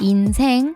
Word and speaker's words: 인생: LIFE, cioè IN LIFE, ma in coreano si legge INSAENG, INSAENG in coreano significa vita stessa.